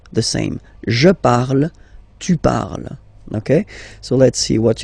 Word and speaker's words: parles: it is je parle, parle. So remember, we put it, okay, but then we don't really pronounce it, je parle, okay. Then for tu, you will have to put es, okay, phonetically tu parles.